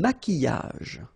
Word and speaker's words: maquillage: Un maquillage. Okay, so here, same rule, QU, but then U is not pronounced, so qui, and then y.